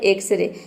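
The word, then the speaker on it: X-ray: वो वर्ड क्या है, वो है एक्सरे। यहाँ पे देखिए वर्ड के शुरू में एक्स आया है, लेकिन यहाँ पे एक्स को हम ज नहीं प्रोनाउंस करते, यहाँ पे एक्स को एक्स ही प्रोनाउंस करते हैं।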